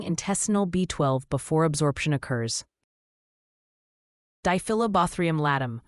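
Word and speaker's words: Diphyllobothrium latum: Dilobaum latt pronounced dyobrium latt the giant fish tapeworm of humans is acquired by eating raw or insufficiently cooked freshwater fish.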